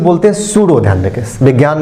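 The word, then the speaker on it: pseudo: देखेंगे कुछ और चीज सूडो य ख डोलस बोलते है सूडो की स्पेलिंग होता है पी से शुरू होता है स प साइलस होता एस ई यू डी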